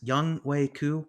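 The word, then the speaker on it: Younghoe Koo: no question uh youngway i always pronounce this young wei ku right yeah that's it um he he's somebody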